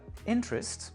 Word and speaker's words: interest: Donc ici, trois syllabes, "interest", accent sur l'avant-avant-dernière qui est donc la interest ou encore le mot Saturday Saturday accent sur l'antépénultième, c'est la première Saturday.